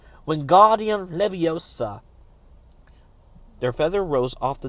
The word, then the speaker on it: Wingardium Leviosa: Wingardium Leviosa, he shouted, waving his arms like a windmill. You're saying it wrong, Harry heard Hermione snap. It's Wingardium Leviosa. Make the God nice and long.